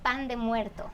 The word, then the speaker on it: pan de muerto: bread of the Dead pronounce it for me the Mexican way it's called Pand muerto Okay so what is